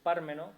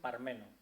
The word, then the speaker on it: Pármeno: Pinillos presumía de su Pármeno, con acento en la A, hasta el punto de firmar con este seudónimo la mayor parte de sus crónicas taurinas, teatrales y políticas. Pues bien, Pascual Terrero, que físicamente era peso mosca, se permitió quitarle el acento a la A de Pármeno, pronunciando Parmeno. Mire usted, don José, Pármeno